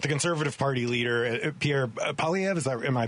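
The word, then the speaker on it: Poilievre: the future but the conservative party leader Pierre PV is that am I pronouncing that properly yeah that's right appears to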